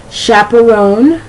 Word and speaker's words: chaperone: All right, that CH has the SH sound. An example would be Chevrolet. Let me see. Let me go back here. Chaperone, Chicago, chapeau, shanty.